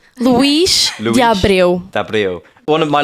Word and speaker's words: Luís de Abreu: Actually, his name is Luís de Abreu, but yes. I've never said it that way. His name is Luís. How do you say it? I say it Luís de Abreu.